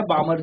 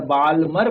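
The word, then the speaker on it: Balmer: चलिए second series जो हमें यहां पर है वो है बामर सीरीज। या बालमर बोलते हो वैसे तो बाल एल यहां पर कांस्टेंट आप कह सकते हो साइलेंट है तो बामर सीरीज हम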